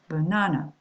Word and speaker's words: banana: For example, banana. All right, can you hear that? Banana. I'm going to insist on this syllable here.